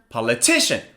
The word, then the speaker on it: politician: Now where's the stress the stress is on the third syllable so repeat after me faster politician politician politician you see